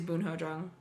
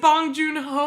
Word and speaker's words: Bong Joon-ho: mailing think you're right I think it is boon hodong and apologies I'm mispronouncing it but I'm pretty sure you're wrong you're wrong it's bong joon-ho absolutely retaining he also